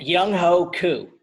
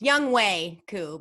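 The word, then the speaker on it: Younghoe Koo: Young Ho Koo. Oh, it's Young Wei Koo, but you know. Oh, no. You. He changed his name? No, it's just pronounced Wei.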